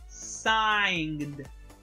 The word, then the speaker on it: sign: kosuna in a okay but the word is pronounced sign sign first sign okay and the last word